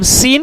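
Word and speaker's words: سين: किस तरह प्रोनाउंस करेंगे सीन क्या है अभी आप स्क्रीन पर भी देख सकते हैं जो कि स्पीरिया लेटर है सीन ठीक है इसमें क्या होनी चाहिए सीटी कीत की आवाज ठीक है और इसका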